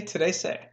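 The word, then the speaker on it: trece: then you're saying something today say that is how you say the number 13 on Sado say today say again don't try to do anything fancy with your tongue just say today say okay last one for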